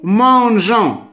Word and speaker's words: mangeons: Nous mangeons. Ce E, c'est tout simplement pour la prononciation de G. غير باش نقرا هاد G نقراها G ما نقراش G.